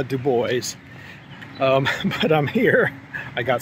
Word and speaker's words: Du Bois: And yes, I'm trying to pronounce that right. Not Du Bois, Du Bois.